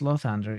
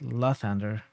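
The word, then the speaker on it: Lathander: so yeah in the first game this was pronounced lothander in this game it's pronounced la thunder the same way i thought it should have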